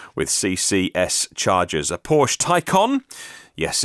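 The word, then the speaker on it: Taycan: charges being tested with CCS charges a Porsche Tyco on yes its spelt taken pronounced icon test model three Mercedes EQC Renault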